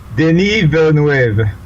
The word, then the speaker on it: Denis Villeneuve: Dennis, how's it pronounced? Denis Villeneuve.